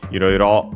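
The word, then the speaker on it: いろいろ: Iroiro, on the other hand, is unaccented, so be careful.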